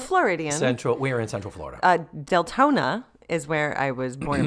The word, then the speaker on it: Deltona: And that's Deltona she's not mispronouncing Daytona. No, Deltona. DEL.